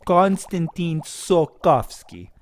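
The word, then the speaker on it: Konstantin Tsiolkovsky: good good good good so it is that's that's how you say his last name konstantin sokovsky constantine pretty good i think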